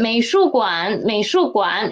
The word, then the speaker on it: 美术馆: So let's read it, 美术馆, and please pay attention to 馆. Read it as a half the tone, okay?